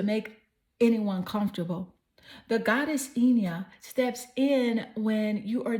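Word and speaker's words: Hina: You have the goddess Ina. Her name is spelled H-I-N-A.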